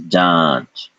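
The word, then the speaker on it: जाँच: So what was should be ja, because of the Chandra Bindu has become ja, followed by cha. So this is janch, janch. There is no N sound here. It's a nasalized vowel.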